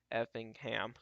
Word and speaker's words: Effingham: Probably expect another one for Ev- Effingham. Effingham. There we go. That's how you say it.